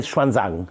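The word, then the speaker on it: Xuanzang: so we know through Schwan Zang who used to be pronounced in in Hindi yeah obvious so the right is shanong the Chinese say shanang shanang Okay um and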